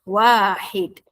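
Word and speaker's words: واحد: Perhatikan ejaan dan dengar sebutan yang betul. Nombor satu. Wahid. Wahid. Wau alif ha dal. W a garis atas. H garis bawah. I wahid. Bukannya wahid. Aa bukannya wahid. Wahid.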